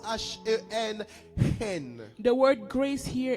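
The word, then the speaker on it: חן: Le mot grâce ici, en hébreu, se prononce H-E-N, hen.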